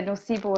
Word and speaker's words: nocebo: Yeah, the nocebo effect.